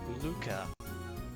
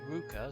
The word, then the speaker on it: Ruka: message from yanubaishi uh luca that's actually supposed to be uh it's pronounced ruka since eltanas are reversed in japan have a nice trip